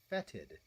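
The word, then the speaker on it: fetid: It's fetted. The only thing worse than something that's fetted is something that's fetted, but it's spelled O E.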